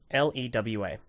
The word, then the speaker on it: Lewa: How do you pronounce LEWA? So, Lewa. Oh, thank goodness. Oh, that warms my heart. I've had many a conversation with many a person who have said it is either Lewa or Lua.